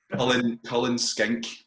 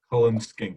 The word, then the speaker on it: Cullen Skink: Cullen Skink. Cullen Skink.